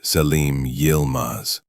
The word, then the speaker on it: Selim Yilmaz: He introduced himself as Selim Yilmaz, pronounced Selim Yilmaz, a Turkish émigré and former associate of Layla's family in Istanbul.